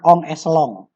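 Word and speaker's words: en echelon: N echelon tulisannya, bacanya on echelon.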